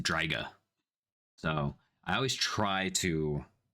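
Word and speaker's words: Draic: Um, but it's pronounced Draga.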